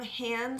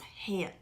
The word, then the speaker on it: HAN: it stands for and although I've heard it pronounced Han the founders I believe pronounce hand it hand and this is all